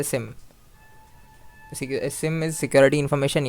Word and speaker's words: SIEM: सो जिसे एसआईएम नहीं पता एसआईएम को हम लोग सिम भी बोलते हैं। We pronounce it एज अ सिम।